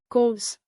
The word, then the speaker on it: kos: Plus, Kos. like, kos.